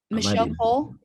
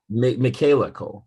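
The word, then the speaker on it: Michaela Coel: one with uh um michelle cole is it michelle cole is how you say her name uh oh that's no i have seen that that's uh michaela cole michaela cole sorry okay yeah yeah yeah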